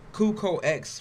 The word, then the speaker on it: Cuco X: Taz like to call it Cucox, but that's not how you pronounce it.